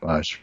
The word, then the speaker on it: assuage: assuage. I read that one I out. said, assuage, it rhymes with triage.